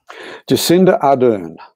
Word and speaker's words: Jacinda Ardern: Jacinda Ardern.